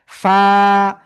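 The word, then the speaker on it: ف: নিচের ঠোটের পেট উপরের দুই দাঁতের আগের সাথে লাগিয়া হালকা বাতাস বের করিয়া এক আলিফ টায়া উচ্চারণ করব। ফা ফা ঠিক আছে ওকে প্লিজ সবাই একসাথে জোরে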